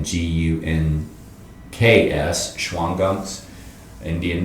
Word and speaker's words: Gunks: sh a w n g u n k s schwang guns Indian name name and uh it's it's pronounced up there just gunks everybody calls it the gunks it's one of the